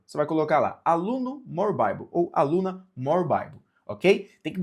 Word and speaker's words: More Bible: Se digita More Bibli, né? Assim como está aqui o nome do nosso canal, More Bibli, mas se pronuncia More Bible, que a sua tradução é mais Bíblia.